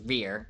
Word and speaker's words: Riere: have- Riere would be pronounced rear, and I'm not going there because I don't want my character to sound like his name is just Butt.